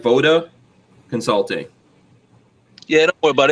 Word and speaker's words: VODA: Voda Consulting.